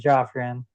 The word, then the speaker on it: Joffrion: So I wanted to make sure I was pronouncing it right. So it's Joffan.